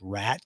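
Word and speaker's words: Radke: day Ronnie I think his last name is pronounced rat it's r-a-d-k-e um he uh we'll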